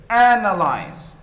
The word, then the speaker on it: analyze: The verb, analyze, analyze. So the first syllable is the stressed one, and so it is louder, it is higher, it is longer.